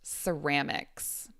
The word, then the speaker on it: ceramics: So, this one, this word is pronounced ceramics. So this first C is an S sound.